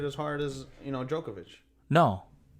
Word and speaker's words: Djokovic: probably wouldn't get smoked by um i can't pronounce djokovic djokovic there you go um she probably want to